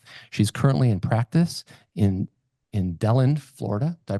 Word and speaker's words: DeLand: She's currently in practice in DeLand, Florida. Did I pronounce that correctly? DeLand.